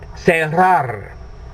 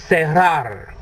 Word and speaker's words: cerrar: So what you're doing is you're saying say rar.